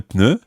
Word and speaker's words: pneu: French words, is un pneu. Un pneu. Sounds a little bit like you're sneezing. Un pneu. Bless you. Or it sounds at least as if you've got the cold.